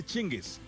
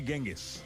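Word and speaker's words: Chinggis: सब अग्री करते हैं, वो है चिंगिस, ना कि गेंगिस।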